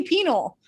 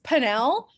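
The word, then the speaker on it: pineal: gland this comes from it kind of sounds like penis but it's not penis or picture no uh close yeah say it that's why people make fun of me i say penal it's panel but it will always be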